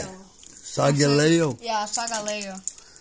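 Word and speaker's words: Solgaleo: And Sogaleg. How do you say it? Sogaleo? Yeah, Sogaleo. Sogaleo.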